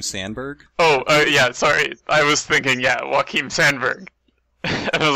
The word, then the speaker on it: Joakin: Or his real name is Joakin Sandberg. Joakin Sandberg. And I was like, wait, that is a J that should be pronounced as a W, right? I'm pretty sure, like, Joaquin Phoenix.